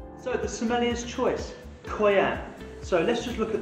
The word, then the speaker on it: Coyam: Pronunciation for the label, Coyam. Coyam.